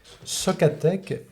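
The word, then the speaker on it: SOCATEC: c'est un presspier qui est fait par l'entreprise socateek comme ça se prononce s o C A T e C et socateek en tête est un fabricant de maquette qui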